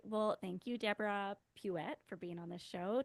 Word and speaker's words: Puette: no it's it's like it rhymes with you bet so it's pet it's a and an